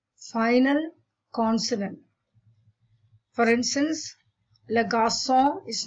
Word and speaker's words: garçon: The letter C is uttered as ka, but when you put an accent underneath it, then it is pronounced as sir. The accent under the letter C is called a cedilla C. So garçon is garçon and not garcon.